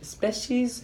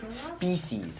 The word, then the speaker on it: species: mera pronunciation of species you were saying special special ease I think you had a soft ease down there specialties right species very hard ease okay those were the